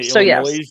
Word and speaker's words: Illinois: instead of and Chicago Chicago you say illino instead Illinois and Illinois yes Illinois